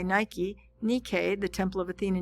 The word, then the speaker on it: Nike: to from Athens to the Acropolis um Nik pronounced uh NE k y Nike Nik the Temple of Athena Nik literally means